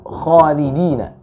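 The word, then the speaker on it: خالدين: Lalu yang kedua, ya, pada kalimat khalidina. Khalidina, kha, ya, itu terbaca kurang masih tafkhim. Ya, karena huruf kha ini termasuk huruf yang isti'la. Khalidina, ya, pangkal lidahnya terangkat.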